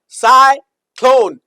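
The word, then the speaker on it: cyclone: साइक्लोन ये इ silent है। ध्यान रखिएगा। साइलेंट ये मैजिक ही है।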